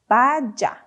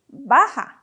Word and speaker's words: baja: is not pronounced as Baja we know that the J has an H sound okay so we say Baja Baja means short so if